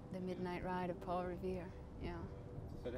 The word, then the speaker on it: Revere: Listen, my children, you shall hear the midnight ride of Paul Revere. That was one, just thinking of that double syllable. I suppose that when people make Revere, making two syllables out of it.